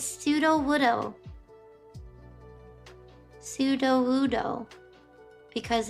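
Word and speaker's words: Sudowoodo: Oh, it's pseudo woodoo.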